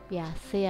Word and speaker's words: Piaget: mengenai perkembangan kognitif anak Piaget piace atau Piaget ya bacanya Terserah Bapak Ibu loh selama periode ini